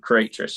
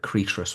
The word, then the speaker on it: Creatress: cycle so it's it's with the release of creatress in March that was the um yeah the